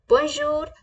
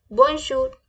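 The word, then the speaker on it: bonjour: पहले वाली स्लाइड में आपको ग्रीट किया लाइक बंजू मि जामी तो इसी तरीके से हेलो माय फ्रेंड्स को हम फ्रेंच में बोलते हैं बजर मे जामी बजर मेजम कैसे बोलेंगे हम बजर मे जामी बजर मेजम ओके अगला हमारा वर्ड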